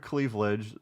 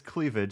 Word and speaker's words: cleavage: footage also he said he pronounced the word clevage no it's it's cleavage it's not like Cleveland Brown what stunk about this